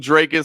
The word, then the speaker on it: Dricus: it's it's a little if you hear DDP say himself it's it's it's you know it's South African it's got a little it's somewhere between dricus and draus so I just kind of go with dricus and make it easy yeah I'll just say